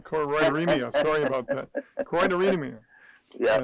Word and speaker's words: choroideremia: direction, for everyone's direction that are affected by choroideremia. I said it wrong. I said it right, choroideremia.